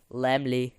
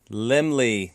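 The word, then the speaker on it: Laemmle: and ml actually I'm going to help you pronounce it it's limley Lemley Lemley Lemley so Carl Lemley yes now uh one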